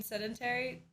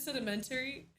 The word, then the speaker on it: sedentary: You mean sedentary? I said sedimentary. Did I add an extra syllable in there? Damn. Sedimentary. Sedentary.